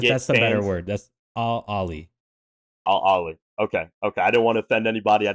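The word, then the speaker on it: Al Ahly: Ali, I don't speak Arabic, but from what I understand, it's Al Ali. Ali. I think I think it's pronounced very similar to the Saudi Arabians.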